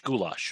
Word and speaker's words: Goolash: behind behind the name goulash so it's pronounced just like the hungarian dish goulash yes it is the